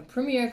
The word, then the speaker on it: premier: says 1er which is Premier Well it's actually Premier not Premier but you'll hear it mispronounced a lot so Premier crew um and